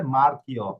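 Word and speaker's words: marchi: দেল্লা আমরে উন মারছ দেখেন মার এরপরে আকা এরপরে হচ্ছে অ তাহলে হবে মারকি মারকি পরে আইকন আপনার কথা কিন্তু আসছে না অথবা আমি বুঝছি না আপনি কি বলতেছেন।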